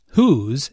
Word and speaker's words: who's: get one language notes whose is the contracted form of who is it is pronounced the same way as whose but the meaning is different didn't you meet her